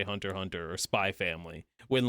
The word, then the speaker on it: Hunter x Hunter: The X is silent. Yeah, I've always been saying the X. It's crazy how people, like, the general consensus was to say Hunter x Hunter.